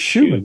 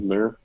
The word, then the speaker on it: Schumann: I think it's Schumann. Schumer? I think it's Schumann.